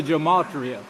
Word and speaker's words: gematria: Television, yes, that was, and the gematria for, I call it gematria because I'm from Oklahoma. I pronounce my A's. Other peoples make an O out of A. That's the reason I say gematria. They say gematria.